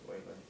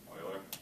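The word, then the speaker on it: Euler: that's too bad then Wikipedia suggests that it's pronounced Oiler Oiler okay wait he wasn't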